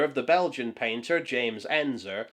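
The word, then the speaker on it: Ensor: We see a poster of the Belgian painter James Enzer, whom I've often mispronounced as Enner since the art school days.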